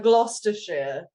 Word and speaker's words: Gloucestershire: Because I've taken grief from certain people on the panel about how I pronounce British things, Paul. Yeah, it's Gloucestershire.